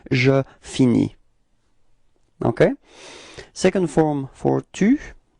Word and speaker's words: finis: Okay, so you see that this verb is ending with a s, but then you don't pronounce it. All right, so it's je finis.